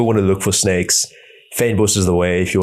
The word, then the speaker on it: fynbos: It's FYNBOS. So it's like fynbos. You would say fine, but because of the Y, you kind of drop that sound a bit. It's like fein.